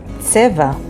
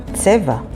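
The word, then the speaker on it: צבע: The next word is tseva, which means color, and it is spelled with tsadi, bet, ayin, tseva.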